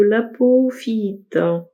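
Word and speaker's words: apophyllite: Le deuxième choix, c'est celui de l'apophyite. Et ça se prononce comme ça.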